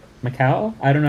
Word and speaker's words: Macau: Macau. I don't know how to pronounce that.